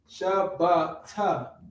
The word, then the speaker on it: Shabbat: No H, right? No, not the th, but the t. Shabbat, right?